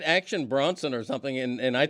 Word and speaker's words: Bronson: that that's that's whe but Bronson not broen well I I thought